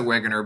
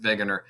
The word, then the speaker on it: Wegener: named alfred wegener uh it's a w but he's german so you could pronounce it wagoner but he would pronounce it veganer anyway um he published